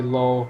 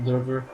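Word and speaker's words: Löwe: it looks like low a lot of people say low just because it's easier but it's pronounced lver and uh for FYI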